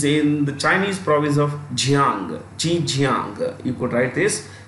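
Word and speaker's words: Zhejiang: well hanga is in the Chinese province of Jang G Jang you could write this G Jang is spelled Zed h e I repeat z h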